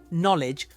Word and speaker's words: knowledge: this together one first underline the silent letters in these words knowledge castle and receip did you get them the silent k t and P they're all hiding in there to now write down